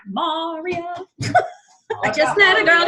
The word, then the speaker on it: maria: You can't sing it the way it was written for West Side Story because the accent is on the wrong syllable. How does he say that again? It's not Maria, it would be Maria.